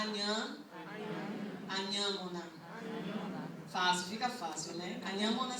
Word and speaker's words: Anhamona: Eu me chamo Anhamona, vocês querem tentar? Anhamona. Isso. Anhamona. Para quem a língua travou em algum instante, é só substituir. Vocês falam inhame?